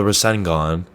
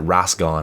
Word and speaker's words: Rasengan: It's the Rasengan. It's spelled Rasengan, but he pronounces it Rasgon.